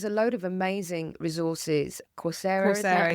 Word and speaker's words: Coursera: Coursera, is that how you say it?